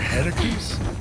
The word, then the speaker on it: Heracles: The Heracles? Yeah, that. That is how it's supposed to be pronounced.